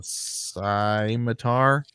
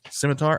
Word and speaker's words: scimitar: true goal the sword of the king uh Sai matar Scimitar of King Scimitar there we go here we